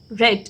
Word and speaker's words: read: Spelling is same, read, read, but spelling is same, but pronunciation is different. We will pronounce it as read.